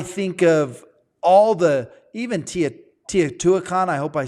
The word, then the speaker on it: Teotihuacan: And I think of all the, even Teotihuacan, I hope I said that right. Amazing. I said it wrong. How do you say it? How do you say it, Trevor? Teotihuacan.